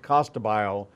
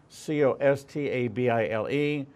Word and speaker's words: Costabile: We're talking with, and I'm gonna do it phonetically because people will find it by me saying Costabile, Costabile. In Italian, pronounced differently, but but if you're going